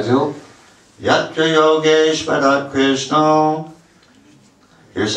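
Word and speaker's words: कृष्ण: Ятра Йогешвара Кришна. Here's how you did it. А теперь как вы делали? Ятра Йогешвара Кришна. Ударение на Кришна.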